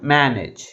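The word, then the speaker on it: manage: ఉన్నాయి two syllabus ఏవేవి మేనేజ్ అయితే ఏ సిలబల్ ఎక్కువ ఫోర్స్ గా పలుకుతుంది ఫస్ట్ సిలబుల్ సెకండ్ సిలబుల్ కంటే ఎక్కువ ఫోర్స్ గా పలుకుతుంది దీన్ని ఎలా పలుకుతాం మేనేజ్ ఓకే దీనికి ఎం ఈ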